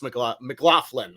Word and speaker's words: McLaughlin: McLaughlin. I pronounced that correctly, right?